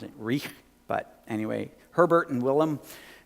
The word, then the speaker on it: Reich: I'm pretty sure you pronounce it Reich, but anyway, Herbert and Willem.